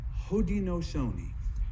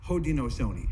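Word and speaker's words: Haudenosaunee: us in our own languages we call ourselves ho Dino Sony ho Dino Sony have you all heard that word before all right actually ho Dino Sony is the name that we were given a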